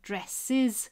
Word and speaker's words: dresses: Again, I hope you can hear dresses is an extra syllable and dressed is the correct answer.